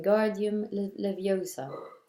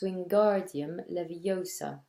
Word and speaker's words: Wingardium Leviosa: much more luck when guardian leviosa he shouted waving his long arms like a windmill you're saying it wrong Harry heard her yummy snack it's Wingardium Leviosa make the GAR nice and long you do it then